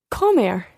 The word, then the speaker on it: comer: examples of er verbs comer comer come here okay when you're singing infinitive always trying to put the pronunciation or the stress rather on the last syllable and as an example